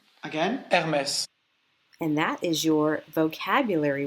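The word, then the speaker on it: Hermès: So the emphasis is on the second syllable. Hermes. Again? Hermes. Again? Hermes.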